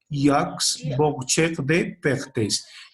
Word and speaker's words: Jacques Boucher de Perthes: ¿Cómo se pronuncia? Jacques Boucher de Perthes.